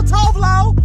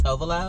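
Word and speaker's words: Tove Lo: Oh, yes, my girl Tovlo.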